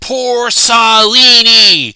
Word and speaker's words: Porcellini: It's pronounced Porcellini, you uncultured ape descendant, she bellowed furiously, seemingly oblivious to the fact that he even knew what her species was called. Oh, so it is supposed to be pronounced like you have a bad Italian accent.